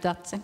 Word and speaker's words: Dace: Dace, est-ce que c'est comme ça qu'on prononce? Dace? Right, Dace.